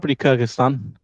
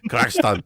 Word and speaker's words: Kyrgyzstan: Probably Kyrgyzstan is, but this old man he corrected me in the taxi. He was like, no, Kyrgyzstan.